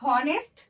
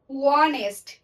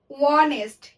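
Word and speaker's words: honest: আমরা কি বলি এটা হনেস্ট? আমরা কিন্তু হনেস্ট বলি না, আমরা বলি ওয়ানেস্ট। ওয়ানেস্ট, আমরা কিন্তু এই এইচটা উচ্চারণ করছি না, ওয়ানেস্ট।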